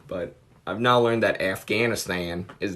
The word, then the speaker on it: Afghanistan: It's hard for me, but I've now learned that Afghanistan is not the right way to say it.